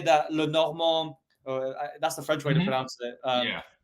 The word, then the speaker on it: Le Normand: And we, in our deleted little bonus episode, which is gone forever now, I did actually say that Le Normand, that's the French way to Mm-hmm.